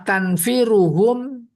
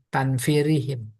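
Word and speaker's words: تنفيرهم: Wa tanfiruhum salah bacanya. Tanfirihim.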